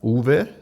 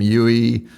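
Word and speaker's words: Uwe: His name was It's spelled U W E U, but it's pronounced Ulv. Okay. And he just changed it. It was like because everyone calls him Yui and he he didn't I you know he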